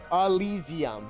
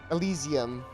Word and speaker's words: Elysium: Elysium. There we go. It's like it doesn't look like how it's said. Elysium. Elysium.